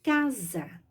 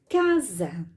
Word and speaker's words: casa: palavra Então vamos escrever casa já pronuncie o z mas escrevo com s casa pronuncie o z